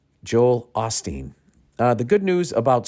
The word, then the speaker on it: Osteen: Joel Osteen goes down I've been calling him Joel Olsteen you guys never corrected me and maybe thought I was just deliberately saying his name wrong but I thought there was an L in there Joel Osteen uh the